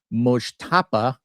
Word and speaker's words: Mojtaba: So, anywho, the headline: Trump briefed that Iran's new supreme leader, Mojtaba, as I've learned to pronounce it, Khomeini, is probably gay.